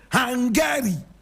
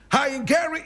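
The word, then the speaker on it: Haingere: The king of the area was known as King Hangari. King Hangari. I will spell it, don't worry. Hangari is spelled H-A-I-N-G-E-R-E.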